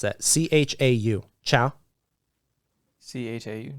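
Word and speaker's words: Chau: Nick, how do you pronounce that? C-H-A-U. Chow? C-H-A-U. Chow, yeah. Chow, okay.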